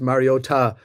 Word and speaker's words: Mariota: Yeah, I think the Commanders actually didn't play a bad game on something like football with Marcus Mariota uh playing under center as as Mike Tico